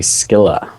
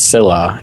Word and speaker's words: Scylla: fancy pronunciation is actually skilla you got to have mad skillas to pronounce it right I'm not fancy so that's the fancy Greek pronunciation but she says it's Sila even though that's wrong